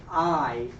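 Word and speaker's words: hay: So we would say by means to dance by I I I we're not pronouncing the H at all.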